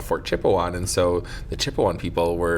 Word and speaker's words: Chipewyan: Chipewyan, so 3 syllables down to 2.